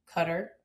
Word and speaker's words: Qatar: And then I went to Qatar, or Qatar, however you'd like to pronounce it.